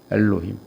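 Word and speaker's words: אֱלֹהִים: 요게 에, 요게 오, 요게 이라는 뜻이에요. 그래서 엘로힘이라고 읽어라. 이렇게 얘기를 하는 거죠.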